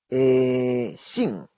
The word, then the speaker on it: 姓: 姓. 姓. Recuerden la pronunciación de la X y cuarto tono, ¿verdad? Nasal.